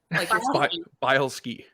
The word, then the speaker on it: Bileski: boleski um and it's spelled bile as in like and ski so bile ski bielski yeah um so